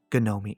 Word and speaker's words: Ga-nomee: "How do you spell that?" "Why, yes," Ga-nomee answered.